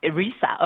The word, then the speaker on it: ERISA: And I guess the acronym, how would you pronounce ERISA? that? ERISA.